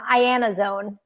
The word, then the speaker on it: Iannazzone: to mess it up it's a long one I Anna's own I Anna's own there's a lot of